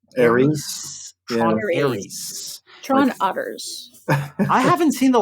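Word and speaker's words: Ares: Tron, do I pronounce this Aris or Aries? Aries.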